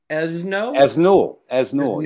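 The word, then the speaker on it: Esnoult: with French musician Elsa Esnoul. Yeah. You don't pronounce the T at the end.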